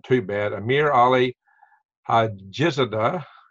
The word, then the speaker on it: Hajizadeh: too bad, Amir Ali Hajizadeh, I believe day is the way the D-E-H is pronounced in Arabic, correct me if I'm wrong, but he announced that indeed Iran did create the strike.